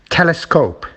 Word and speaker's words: telescope: Telescope, it's at the beginning.